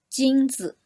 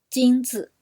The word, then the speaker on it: 金子: 金子, 金子 means gold. So the second syllable 子 is very short and light. So your stress is on 金子.